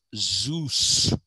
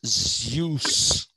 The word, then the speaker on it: Zeus: it is not zs the greek pronunciation of that is zeus it's zeus actually okay and he